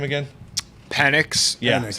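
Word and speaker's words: Penix: is pretty good mate what's his name again panics yeah that's how you say it yeah um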